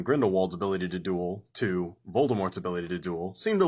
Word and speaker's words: Voldemort: want to get technical i should be calling him voldemort as she has stated personally that the t is silent moving forward grindelwald is